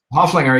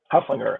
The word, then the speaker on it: Hoefflinger: So we are live with Hefflinger. Am I pronouncing that right, or Hoefflinger? Hofflinger, yeah, no, it's one of those old German names. Ignore the E. Hefflinger.